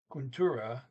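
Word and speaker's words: kontoret: Venligst is please, come till to Kuntura office, mit my office. There's an ET on the end of Kuntura, T not pronounced.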